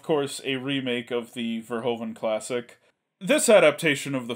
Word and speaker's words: Verhoeven: I believe it's pronounced Verhoeven.